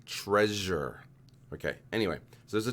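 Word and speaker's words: Trezor: though it's spelled t-r-e-z-o-r it's pronounced like the word treasure i'm gonna mess it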